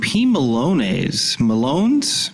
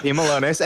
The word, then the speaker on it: P. Malone: And a really nice review from P. Malones. P. Malones? Yes, you're spending too much time with those. This is definitely P. Malone, not P. Malones.